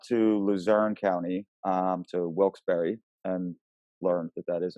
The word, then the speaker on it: Wilkes-Barre: we went up to luzerne county um to wilkes-barre and learned that that is in fact how you pronounce it um so we were in wilkes-barre